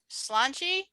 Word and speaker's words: Sláinte: Sláinte?